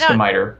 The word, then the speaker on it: scimitar: It's pronounced skimiter.